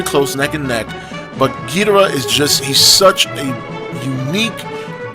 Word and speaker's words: Ghidorah: so number two is king ghidorah or guitarra however you want to pronounce it i usually say ghidorah king ghidorah is again my all-time